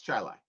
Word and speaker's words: Chili: chili by the way chili is spelled chili but it's charlie so yes hi larry